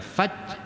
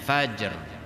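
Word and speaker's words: فجر: Jadi kalau dibaca faj enggak ada ra-nya, maka sejahteralah malam itu sehingga terbit jalan-jalan, maka keluarlah subuh asmara itu kan. Jalan-jalan itu fajjun itu. Nah, maka bacanya fajr.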